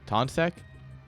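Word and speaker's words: Tonček: pronounce his name still taunt SEC because it's t-o-n-c-e-k tonsek um yes finally someone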